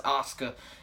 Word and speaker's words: Asuka: I mean, I say it like that, Asuka. I know everyone says Asuka in America, but, you know, that's how I say it.